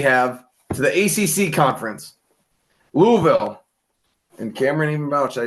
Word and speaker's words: Louisville: be nice we have to the ACC conference Louisville and Cameron even I said it right Louisville